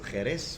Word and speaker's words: Jerez: Of course, some people might know that the name Sherry actually comes from the name of the town, which is Jerez. Jerez. Or it's spelled with a J, but pronounced J.